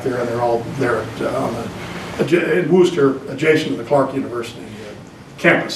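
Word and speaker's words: Worcester: Robert downer came out of Clark University and booster mass it's pronounced Booster not Worchester those were down east so but he never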